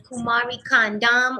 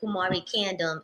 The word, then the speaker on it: Kumari Kandam: It's Kumari Kandam, or you could say Kumari Kandam, and it we shouted it out, but now it's out on all streaming platforms.